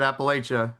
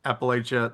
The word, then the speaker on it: Appalachia: in Appalachia lore and I heard you pronounce it Appalachia. That's okay because you're above the Mason Dixon line. If you're south of the Mason Dixon line, you call it Appalachia. They will throw in Appalachia.